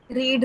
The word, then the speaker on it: read: रीड, रेड, रेड, spelling तीनों की same रहती है, लेकिन सेम होती रेड है, रेड। लेकिन पास्ट टेंस में उसको हम रेड पढ़ते हैं, है ना?